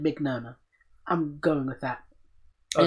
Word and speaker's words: Mignogna: He said Mignogna.